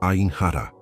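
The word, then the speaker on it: עין הרע: O nome da força que está agindo contra você é ainhar escute a pronúncia. A Iq i N. H A R A. Repita em voz baixa onde você está. Ain hará.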